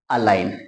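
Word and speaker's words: align: ए को बोलेंगे ए एल को पढ़ते हैं हम ल जी एन लास्ट में आए तो आई को आई पढ़ते हैं ये लो आई और जी खुद हो जाता है साइलेंट और लास्ट में एन को पढ़ेंगे हम न तो ये हो गया अलाइन यकीनन आपको ये चीज समझ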